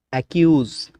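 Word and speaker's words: accuse: Rules number 44, শব্দে double C plus you অথবা ও অথবা কনসোনেন্ট থাকলে সিসি এর উচ্চারণ ক হবে। উদাহরণ দেখলে আরও ভালোভাবে বুঝতে পারবেন। রুলস এবং উদাহরণ ভালোভাবে ফলো করুন। অ্যাকিউজ অভিযুক্ত করা, অ্যাকিউজ অভিযুক্ত করা, কয়ের উচ্চারণ হচ্ছে।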